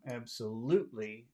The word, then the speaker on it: absolutely: The problem is that when you have a word with more than 2 syllables, it's possible that there could be 2 accented syllables. And I think you could do loot if you want. Absolutely atrocious. But I think most people would probably choose the first syllable and say absolutely.